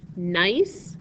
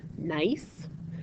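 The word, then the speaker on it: gneiss: got different minerals and different bands or layers nice is a this word right here that's the way you pronounce it nice nice is nicely banded is the way to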